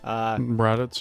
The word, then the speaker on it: Raditz: Shortly after, his evil brother, Raditz, I believe it's pronounced. Raditz, yeah.